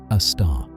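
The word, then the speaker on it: Sagittarius A*: Our Milky Way's central black hole is called Sagittarius, a star, pronounced a star, named for its location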